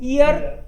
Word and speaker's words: Ihr: ई हर बोल दिया आपने, बीच में एच आता है तो साइलेंट रहता है, बीच में एच आई तो उसको पढ़ते नहीं है। सो ईयर सिमर इस्ट आउक ग्रोस